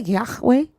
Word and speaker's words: Yahweh: Did you say Yahwe? Yeah, that's a proper pronunciation.